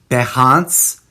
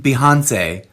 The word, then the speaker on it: Behance: sort of spin-off project over there on Behance, I think might be the correct way of pronouncing it. I'm never sure. It certainly isn't Behance, which sounds like Beyonce, which no one should sue me over that comedy.